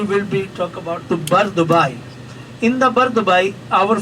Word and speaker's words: Bur Dubai: First off, it is the district called Bur Dubai, B-U-R, Bur Dubai, not a pronunciation Bur. It is a Bur Dubai.